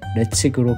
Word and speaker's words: Ledaig: 싱클레어의 이름을 땄다고 하는데요 철자가 ledaig인데 레측으로 발음하는 걸 보니 타란티노 감독의 분노의 추격자